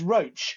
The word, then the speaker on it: Roche: Just to say it's Roche, as in coach, very appropriately, the pronunciation. Not Roche, as in drug company.